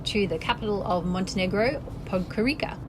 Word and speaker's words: Podgorica: Today we are taking a trip to the capital of Montenegro, Podgorica. It's pronounced Podgorica.